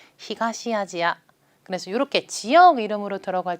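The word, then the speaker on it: 東アジア: 아시아 바램을 일본어로 이렇게 카타카나 로 발음할 때는 아시아가 아니라 지하 라고 하는 것도 같이 알아두시면 좋겠어요 그래서 동아시아 라고 할 때는요 토와 아시아 라고 하지 않고요 히가시 아지야 라고 합니다 동아시아는 귀가 시 아지야 그래서 이렇게 지역의 이름으로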